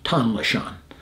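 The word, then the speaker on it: Tong Le Chon: core a place called Tom lechon TLC tender loving care but it's spelled Tom Le Shawn and um my buddy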